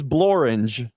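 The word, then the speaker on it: Blorenge: is it a mountain one of the few words that rhymes with orange what is bloringe a pastry plant or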